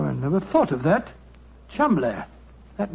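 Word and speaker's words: Cholmondeley: Being an American, he had no reason to know that the name Chumley is in no way pronounced the way it is spelt. But you had never thought of that. Chumley.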